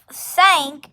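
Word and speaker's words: cinq: it's not spelled c-a-t and five is stank sank it is spelled i n q and six is cease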